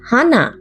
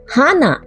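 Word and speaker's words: 花: তাই না তবে দুটোর উচ্চারণ কিন্তু সমান নয় নাক হচ্ছে হানা আর ফুল হচ্ছে হানা আরেকবার বলি নাক হানা ফুল হানা মুখ মানে মুখ গহবর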